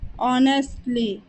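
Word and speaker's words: honestly: मकसद मकसद ईमानदारी से ऑनेस्टली ऑनेस्टली यहां पर एच साइलेंट होता है और ओ से इसका प्रोनंसिएशन स्टार्ट करते हैं सेवा करना सर्व सर्व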